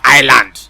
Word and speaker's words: island: Now, you see how S is silent inside the spelling of island, or T is silent inside the spelling of tsunami.